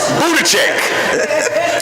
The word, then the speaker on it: Buttigieg: Also, want to give out a thanks to our Secretary, Pete Buttigieg. If it wasn't for dear old Pete Buttigieg, we wouldn't have that. I might be saying his name wrong. What's his name? Buttigieg.